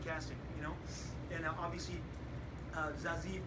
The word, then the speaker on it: Zazie: And obviously, Zazie Beetz, that's how you say her name. You gotta have a nice Zazie. So if you're saying Zazie, you're saying it wrong.